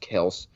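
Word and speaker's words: Kelce: the year travis kels which we learned this week is he's pronounced kels and like i like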